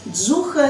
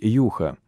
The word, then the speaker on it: Juha: Как произносить правильно, Джуха или Юха? Я родом из Финляндии, поэтому правильно произносить Юха.